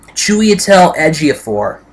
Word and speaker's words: Chiwetel Ejiofor: And Chiwetel Ejiofor. That's how you pronounce his name, I believe.